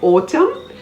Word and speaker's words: autumn: o n i c n is silent if it appears after an m at the end of words like autumn a-u-t-u-m-n column c-o-l-u-m-n him